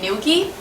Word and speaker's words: Ngilgi: have noticed the name nilie so the first g is silent and nil is actually